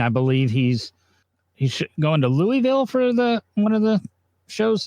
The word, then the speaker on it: Louisville: I believe he's going to Louisville for one of the shows this weekend. John, we're in the South. You have to pronounce it correctly. It's Louisville.